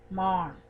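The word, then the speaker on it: माँ: the one shown here, maan. Here we don't pronounce it but simply add a nasal tone that almost sounds like in.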